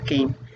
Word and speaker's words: Caine: Se escribe Caine y se pronuncia Caine.